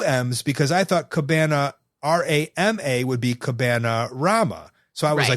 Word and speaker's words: Cabanarama: How would you pronounce this? I would say Cabanarama. Correct.